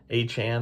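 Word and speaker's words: Achane: I can't ever say his A-Chan, I think is how you say it.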